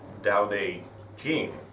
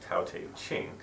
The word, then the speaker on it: Tao Te Ching: say Taoism and there's still a little bit of a debate going on about how you spell it and how you say it so I'm going to go with Taoism and doubt a king as opposed to tout a king but I'm a mess